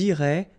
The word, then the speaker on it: iraient: if you look carefully, you get A-I-E-N-T. Okay, but then phonetically it goes like E. Okay, so technically these form and these forms here are pronounced the same way, and it goes like irait.